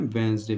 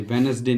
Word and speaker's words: Wednesday: ठीक है, उसके बाद हम देखते हैं वेंसडे, इसको हम बोलते हैं वेंसडे, वेनसडे नहीं बोलते हैं, वेंसडे, WEDNESDAY, इसको हम बोलते हैं वेंसडे।